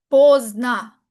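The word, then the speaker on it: поздно: Si quiero decir exactitud necesito poner posna. Posna tildena o por la cual la última o se pronuncia como una a.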